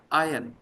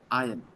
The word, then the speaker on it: ion: Ion, not ion. Ion, proton or neutron. The correct pronunciation is ion. Ion, not iron. I Ion. Exactly the way it is written.